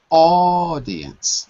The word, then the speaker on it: audience: hanging out but the the stress is on the first syllable not audience but audience first our target audience are